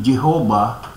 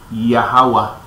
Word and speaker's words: Yahweh: So, ang tamang bigkas dyan ay, "You are my witnesses, declares Yahweh." Hindi po Jehovah's Witnesses.